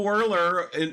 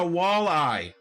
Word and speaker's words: walleye: I haven't caught no whirler all day. You know, whirler. That's the one that gets me. It's like, say it right, please. It's a walleye. Walleye, enunciate.